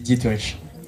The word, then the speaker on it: Dieterich: Et je vais appeler Dieterich. Dieterich, désolé. Merci. Est-ce que tu peux nous rappeler comment ça se prononce du coup? Ça se dit Dietrich.